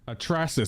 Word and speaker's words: Atrasis: Atrasis. That's how you say it. He would never tell me how to say his name. Atrasis?